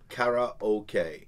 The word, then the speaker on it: karaoke: said this thing and it phonetically spelled out kara okay and it said kada